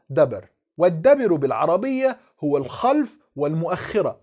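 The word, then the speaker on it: דביר: بص بيقول ايه بقى في الهامش: كتب الشيوخ الكلمة العبرانية دبر كما هي بالأحرف اليونانية وتلفظ دبر، والدبر بالعربية هو الخلف والمؤخرة.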